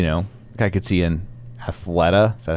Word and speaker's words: Athleta: fan engagement you know I could see in Athleta is that how you say it yes it